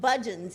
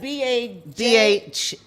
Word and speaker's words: Bhajan: So because when you look up Budgeons, it sounds like Budgeons, like the supermarket, but it's spelled completely different. It's like Bhajans, but it's pronounced Budgeon.